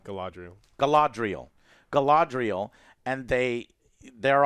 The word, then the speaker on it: Galadriel: into uh how do you say her name gallandrail galadriel galadriel galadriel and they they're on this wrecked